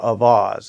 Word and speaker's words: Auxvasse: I am from a little town in Missouri, central Missouri, called Avasse, and it's spelled Auxvasse.